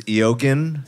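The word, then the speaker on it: Eoghan: up an accent you your name is Yogen pronounced you know so use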